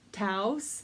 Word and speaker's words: Taos: do like to sell the brand is taos we have a taos a city in new mexico so that is the way i pronounce it taos and these are i